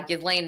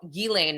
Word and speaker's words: Ghislaine: I also want to discuss uh the latest with uh Gizlane Maxwell Gilane Maxwell, excuse me. I actually am usually better at pronouncing her name.